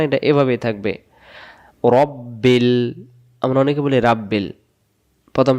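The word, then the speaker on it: رَبِّ: মিলবে লামের সাথে বিল রব্বিল অনেকে বলতে পারেন আলিফটা গেল কই আলিফ জবর জের পেশ কিছু নাই এজন্য এটা উচ্চারণ হচ্ছে না এটা এভাবেই থাকবে রব্বিল আমরা অনেকে বলি রাব্বিল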